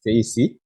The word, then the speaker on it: Terese: So that's how the name is pronounced, Terese.